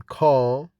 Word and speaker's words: car: The pronunciation of R in British English after a vowel. The R is not pronounced in British English. Accent is called non-rhotic because the R is not pronounced after a vowel, like in car, card, boat, hear, and heard.